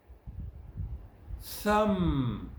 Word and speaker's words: thumb: table, problem, climb, comb, thumb. Notice the V is silent. It's not pronounced in this column and the next column.